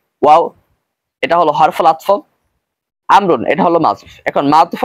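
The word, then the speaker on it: عمرو: এখন আমর আবার চিনার উপায় কি, আইন মিম র এরপরে যদি ওয়াও থাকে তাহলে উচ্চারণ হবে আমর, আর যদি আইন মিম র এরপরে ওয়াও না থাকে তাহলে উচ্চারণ হবে ওমর। এখানে খালিদুন ওয়া আমরুন হবে, ওমর হবে না উচ্চারণ।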